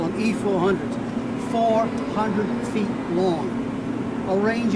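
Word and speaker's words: I-400: The the new submarine was going to be the I400 class I in Japanese are pronounced E. So the Japanese call them E400s.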